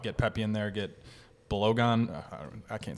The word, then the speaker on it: Balogun: Pepe, Pifak, and how do you pronounce his name? Balogun.